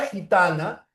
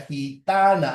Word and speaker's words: gitana: Ya, gitana, ahí está la fuerza de voz. O la diferencia en la pronunciación acá entre gitana y esta otra, gui. La primera es gi, la otra es gui, guiso.